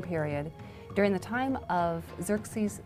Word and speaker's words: Xerxes: these kings in the 400s, his name was Xerxes. His Persian name in Old Persian, which is his original native language, is Shayarsha. Now that was hard for the Jews to pronounce, so they said Ahasuerus.